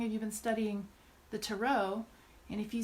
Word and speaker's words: tarot: deck taro or taro this is a French word so there is no T on the end it would not be under any circumstances to rot or tear it just not not it and I will say